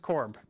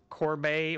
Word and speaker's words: Corbe: the E is silent, so just Corb. Not Corbe or Corby or Oh, just Corb.